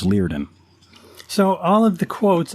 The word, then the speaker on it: Liardon: learning you know i used to call him liardon and i used to think man that's good night wow yeah um and then and then i uh i found out later that i was pronouncing it wrong and it was it was leardin so all of the